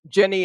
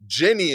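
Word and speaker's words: Ginny: In TV, The Last of Us, Wednesday, and Guinea in Georgia No, were the top trending. Jenny in Georgia. Jenny in Georgia. Oh, okay. Yeah, sometimes Yeah, Jenny is spelled with a G, like gin.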